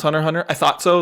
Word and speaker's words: Hunter x Hunter: And out of all of them, I haven't talked about Sonic Heroes, but you ranked It's pronounced Hunter Hunter.